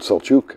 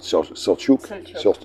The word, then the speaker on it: Selçuk: The name of the town in modern times is called Selçuk. I think is how they pronounce it. Selçuk.